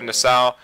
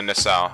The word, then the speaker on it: Nassau: But first of all, we're going to be departing southeast of Nassau, and we're going to be departing from Rock Harbor.